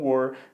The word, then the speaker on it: were: Essa é a pronúncia, então were, vejam que é diferente daquela nossa pergunta, lembram-se da nossa WH question, where que significa onde e que é escrito com um H depois do W, não é isso? E tem uma pronúncia mais aberta, olha, where. E aqui a gente vai ter uma pronúncia bem fechada, were, ok?